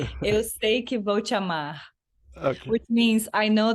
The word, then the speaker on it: Eu sei que vou te amar: Yeah, Everybody you pronounce it because I bet it sounds much better coming from your mouth. it's called Eu sei que vou te amar, Okay.